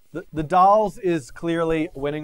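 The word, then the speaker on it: The Dalles: vote for Walla Walla it's pronounced the dolls thank you DJ Mangus all right the dolls is clearly winning right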